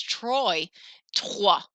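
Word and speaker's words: trois: sound so if you're like what the that's Troy a I think it sounds kind of like catat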